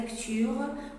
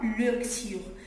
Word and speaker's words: lecture: Ne dis pas lecture. Lecture. Pourquoi? Parce que E entre deux consonnes. toujours E, entre deux consonnes, E se prononce E.